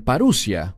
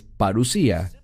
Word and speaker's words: parusía: Algunos la pronuncian parusia, pero es parusía.